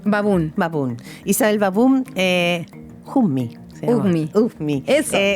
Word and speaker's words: Baboun: Tu apellido se pronuncia Baboun. Baboun.